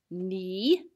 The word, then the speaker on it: knee: arrow for that one the word not has a silent k in front of it you probably know a lot of words with the same spelling pattern like knee and knock what else can you